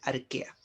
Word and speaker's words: Archaea: Archaea, así se escribe, se pronuncia Archaea.